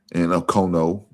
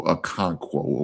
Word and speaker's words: Okonkwo: And Okowu, I can't pronounce it. I think it's how he pronounce it. Oh, Okonkwo. Okay, there you go.